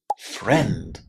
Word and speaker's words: friend: Another similar basic word where the letter I is silent is friend.